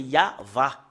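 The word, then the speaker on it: יהוה: Depuis ici jusque-là, c'est Yahva.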